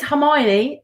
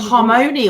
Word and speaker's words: Hermione: movies came out what it is hermione and i can't remember how i pronounced it yeah i prefer harmony or something i was calling her